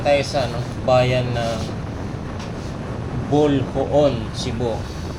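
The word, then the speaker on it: Boljoon: So guys ah nandito na tayo sa ano bayan ng Bolhoon, Cebu. Basa ko kasi dito pero nung kausap ko yung ano dito bulboon daw ang pronounce dito.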